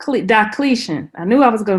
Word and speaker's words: Diocletian: about um the roman emperor and i may pronounce this right wrong everybody help me out is it deletion diocletian diocletian i knew i was going to mess it